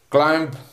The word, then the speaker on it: climb: Climb, B is silent in this word.